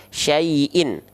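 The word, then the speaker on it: شَيْءٍ: tanwin kasrah boleh ya Maka hamzahnya kalau berharakat baris bawah dua apakah dibaca i syaii gitu atau gimana teman-teman dibacanya menjadi vokal menjadi vokal in ya menjadi vokal menjadi vokal in menjadi in ah jadi syaaiin syaaiin dibaca jelas bunyi nnya ya kalau baris atas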